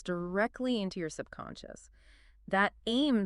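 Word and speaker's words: ऐं: Sarasati's bisha or seed mantra is aim pronounced just like it looks a I am aim.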